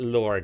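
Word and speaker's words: Lorde: and we've also got Lord is here it's the E is silent it's cool all right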